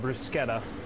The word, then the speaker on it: bruschetta: appetizers on our menu we call it a bruschetta in Italy they'll call it brusketta but as so many of the dishes that we do here we Americanized it and make it easier to pronounce so this is nothing